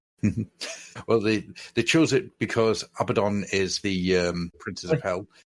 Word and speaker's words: Abaddon: If you want to say his name properly, because that's how it is. It is actually a bad one.